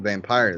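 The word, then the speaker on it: Vampyr: game is not valve vampire though it's bad it's y is pronounced vampir okay if you do if you listen to the creators of the game the creators of the game call it vampire okay even though it's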